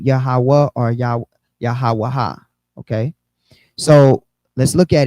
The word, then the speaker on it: Yahawah: So this yields the 4 syllables Yahawah.